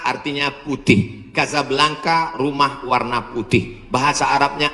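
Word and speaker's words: Casablanca: nama negaranya Maroko ibukotanya tulisannya casablangca cara bacanya Kadzab langka Kaza artinya rumah Blanca artinya putih Kasablanka rumah warna putih bahasa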